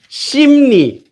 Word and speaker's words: 십리: So you can't say 십리 without saying it as 십리. So in order to say it more naturally, 십리, 십리, 십리, 십리, 십리, 십리, 십리. It kind of, if you have to do it a bit more, but it'll eventually collapse into becoming 심리.